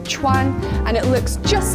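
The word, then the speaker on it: 串: or in the doorways of restaurants everywhere it's pronounced Chuan and it looks just like a kebab and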